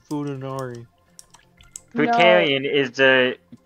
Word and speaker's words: Futanari: Are you Futarian? Am I a what? Futarian, because that's literally what a woman with a dick is. It's called Futanari.